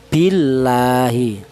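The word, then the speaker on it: بِاللهِ: lafal Allah di mana lafal Allah ini didahului huruf yang berharakat kasrah ini dibaca tarkik. Apa artinya tarkik? Tarkik itu artinya tipis. Cara bacanya itu seperti ini ya. Billahi itu tarkik. Tidak boleh dibaca tebal.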